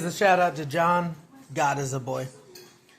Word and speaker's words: Godesiabois: Um, after Glenn brought me on uh to Collective as a mod, he finally told me that you pronounce his last name. God is a boy.